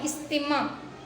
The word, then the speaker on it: استماع: تناول۔ اگلا لفظ ہے استماع۔ پہلا اور تیسرا حرف مکسور ہے یعنی ان کے نیچے زیر ہے، اور پانچواں حرف مفتوح ہے۔ جیسے یہ لفظ بنا ہے استماع، تو الفاظ بنیں گے